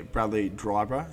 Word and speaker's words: Bradley Dryburgh: Today, I'm here with the one and only Bradley Dryburgh.